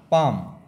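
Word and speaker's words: palm: आ कधी होते बघा पी ए एल एम आ पाम L silent आहे इथं सी ए एल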